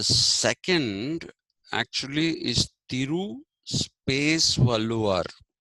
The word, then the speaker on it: Valluvar: Now, so if his name was Valluvar, then it's actually the Tamil pronunciation of this is Valluvar. Okay, Valluvar is the pronunciation.